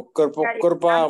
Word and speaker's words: कृपा: हाँ हाँ, तो कृपा मतलब उसको हम प्रोनाउंस नहीं कर पाते हैं जी। कृपा हम कृपा बोलते हैं यहाँ पे सीधा, कृपा सीधे सीधे ऋषि शब्द जो है ऋषि शब्द, ऋषि का ही ऋ जाके वहां लगता है, ऋषि जो